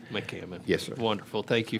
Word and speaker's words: McCammon: This time, the chair calls up McMone. Mammon. Good morning. I apologize for your pronunciation. Good morning, Mr. Chairman and members of the committee. My name is McCammon. McCammon.